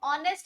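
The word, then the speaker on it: honest: कलाकारी है तो देखो ऑनेस्ट है एच साइलेंट है ओ से आवाज आ रही है यानी कि ओ यानी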